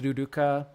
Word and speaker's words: Luluka: The the writing is Luluka. The pronunciation is Luduka. No matter how they would write it, it's it would be duduka.